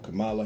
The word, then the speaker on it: Kamala: I want to thank Vice President Kamala Harris for being an extraordinary, or Kamala Harris, excuse me, on the mispronunciation.